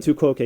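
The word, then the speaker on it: tu quoque: Is that how you pronounce it? Tuok.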